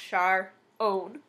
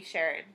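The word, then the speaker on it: Sharone: My name is Sharon, so it's pronounced Char-own, hence the E. The E actually came in 7th grade, because I was tired of every single substitute and teacher ever calling me Sharon.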